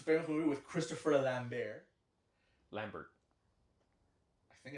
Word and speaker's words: Lambert: movie with Christopher lamber Lambert I think it's lamber is it French I don't know if he's French but I think it's lamber I've heard but oh yeah Lambert would be the American pronunciation okay whatever long story